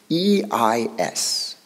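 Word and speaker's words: εἰς: In the Greek, there's a tiny little word, E-I-S, eis, is the way they pronounce it.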